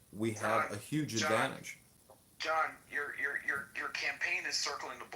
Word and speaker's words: John: Well, ask John. I'm just asking a question. Oh no, not you, John. I'm talking about the John next to you. The silent H John.